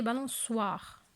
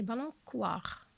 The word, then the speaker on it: balançoire: Est-ce que c'est C? Je le laisse comme ça ou bien je vais ajouter la CD pour prononcer balançoire. Maintenant, comme ça, c'est balançoire.